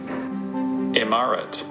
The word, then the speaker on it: imaret: I have no idea how to pronounce it, so I'm gonna let the pronouncer say it. Okay. Imaret.